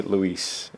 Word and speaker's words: Louise: How do you say Louise in British? What does it look like? Louise. Louise? It's Louise, right? Louise. Like with a Z.